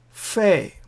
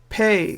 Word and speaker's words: Pe: Fe, Pe, the letter Pe has a pronunciation like F, fan, or pan, P sound.